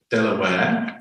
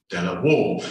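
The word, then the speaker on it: De La Warr: If we take it from the family name, the pronunciation should be Delaware, although traditionally everyone in Bexhill pronounces it Delaware.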